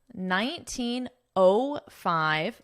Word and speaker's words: 1905: 1905. Notice how I'm pronouncing this as O.